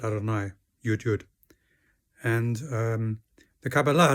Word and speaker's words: Adonai: We pronounce it Adonai, Yud Yud.